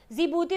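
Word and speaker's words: Djibouti: जिबूती दे विच जो डी है ना वो साइलेंट होएगा, ठीक है, बाकी वाले जो वर्ड्स है उनके नाल बनेगा जिबूती। ऑलराइट, ये इंपॉर्टेंट है, इनू जरूर याद रखना।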